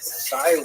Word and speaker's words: Cyrene: I looked it up and I've heard it pronounced as Cyrene in English. In Greek, it would have been something like Kurene. So I'm probably going to say Kurene, and I'll probably be wrong, but this wouldn't be the first time.